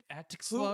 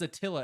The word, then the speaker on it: Atxlla: Is it just Atxlla? Attila. Okay, I'm just making sure.